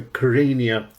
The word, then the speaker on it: Kyrenia: Constantinous YIANNOUDES, your opera company is the Kyrenia Opera. That's the way to pronounce it, I think, isn't it? Sure. Sure. Correct.